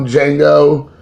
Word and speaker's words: Django: relate to when Tarantino Django Unchained the D is silent another great director that I loved his films he's a fantastic director I just love everything about this I love Django that's why I honestly